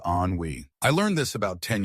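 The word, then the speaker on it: ennui: Anwi is pronounced onwe.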